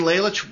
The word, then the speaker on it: Lalich: Lalich, welcome to Behind the Paranormal.